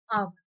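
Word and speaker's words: hour: वी पुट an before आवर। इसीलिए हमने आवर के पहले एन लगाया है, क्योंकि आवर बोलते हैं तो ए से स्टार्ट हो रहा है इसका प्रोनाउंसिएशन, और ए जो है वोवेल है, वोवेल के आगे हम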